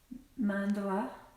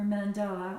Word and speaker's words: mandala: at the center of my mandala or Mandela I'm not sure there's two ways you can pronounce them and I've looked it up and either way is fine so mandala or mandala so as you can